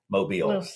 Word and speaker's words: Mobile: uh the name mobile which is kind of pronounced like Lucille mobile people we can always